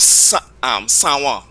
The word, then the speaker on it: San Juan: Even the town, another one I always tell my students and French students too, the town of San Juan. It is pronounced that way because of Patois.